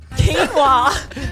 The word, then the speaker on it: quinoa: You're on the way to saying quinoa. Quinoa.